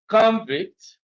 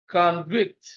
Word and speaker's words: convict: So when it is used as a verb, stress is on the second syllable. When used as a noun, stress is on the first syllable. Example, conduct, conduct, convict, convict, export, export, import, import,